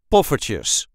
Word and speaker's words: poffertjes: we say Petes Petes the emphasis is on the first syllable pues puer ches Puffer ches and you can hear